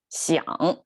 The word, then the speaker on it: 想: And 想, the third tone, is the most complicated pronunciation, like a tonation for Chinese language.